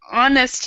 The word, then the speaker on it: honest: And also, Ibec, honest here with this H, we actually don't pronounce the H here. We'd say honest, honest.